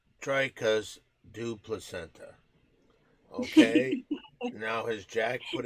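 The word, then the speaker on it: Dricus du Plessis: It's pronounced Dricus du Placenta.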